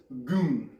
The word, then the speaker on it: gun: This is like the Chinese goon, right? It's spelled like gun, but they call it the goon, right?